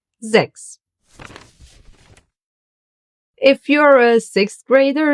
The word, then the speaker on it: sechs: Why is it not pronounced as sex? Because most of the time in the German language, an S at the beginning of a word will be pronounced like a Z.